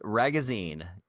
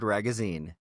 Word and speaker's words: Ragozzine: Our guest today is Jared Ragozzine. Jared as in rhymes with magazine, Jared Ragozzine.